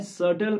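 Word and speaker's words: subtle: सटल का मतलब यहाँ पे है बी साइलेंट है, इसमें SUFTLE है, BTLE है, लेकिन इसको पढ़ने में सटल पढ़ा जाता है और इसमें इसका मतलब होता है हल्के फुल्के या मामूली से।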